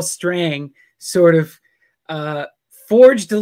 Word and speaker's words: Strang: You know, is that Strong? Is that, how do you say his name? Is it Strange? Strang.